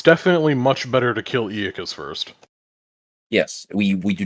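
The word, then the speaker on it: Aeacus: Aeazus pronunciation. Iacus.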